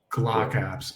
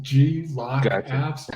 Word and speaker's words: GlockApps: It might be pronounced G-Lock Apps. I don't know. I just call it Glock Apps.